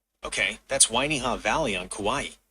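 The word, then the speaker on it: Wainiha: I'm not really referring to the Y, but this is how you spell it. W A I N I H A. Okay, that's Wiiha Valley on Kauaii.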